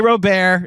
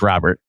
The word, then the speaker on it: Luis Robert: Okay, it's Luis Robert. You guys can say Roar and put a put a tilda where there isn't. But I will I will acknowledge that our official pronunciation is Robert.